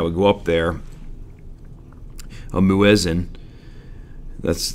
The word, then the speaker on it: muezzin: But in the older times, or maybe a smaller mosque, there would be this person that would go up there, a muezzin. That's how you pronounce that, muezzin, would stand on the balcony